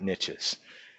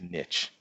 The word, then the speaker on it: niche: specialized they can fit in lots of different niches and it is pronounced niche not niche that's the French way of saying